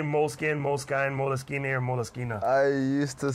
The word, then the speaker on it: Moleskine: there's no moleskin involved it's actually moleskina because that's just the way it's pronounced in Italian but I just saw